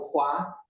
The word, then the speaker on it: roi: mostrar por exemplo que no francês ele coloca né o FOA né que hoje se se pronuncia R mas se escreve r o i uhum né E que